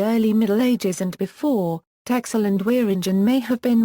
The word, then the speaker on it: Texel: historical sound-changes in Dutch, where all -x- sounds have been replaced with -s- sounds, the name is typically pronounced Tessel in Dutch. History In the early Middle Ages and before, Texel and Wieringen may have